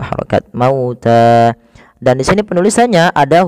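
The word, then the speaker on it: مَوْتَى: Kemudian pada lafal ta, di sini kita baca dengan mad tabi'i, panjangnya 2 harokat, maka harus dipanjangkan dulu 2 harokat, mauta.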